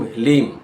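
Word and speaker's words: ह्लीं: ओम ह्रीम जो होता है वह अलग शब्द है। यहां पर उच्चारण करना है ओम हलीम।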